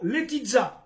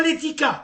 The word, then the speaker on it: Letica: Carlo Letizza, pas Letica, arrêtez avec Letica, Letizza. Letizza, c'est comme ça qu'on prononce en serbe.